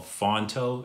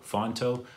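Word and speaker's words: Phonto: that i use is actually an app called fonto it's spelt p h o n t o fonto that's the main design app that i use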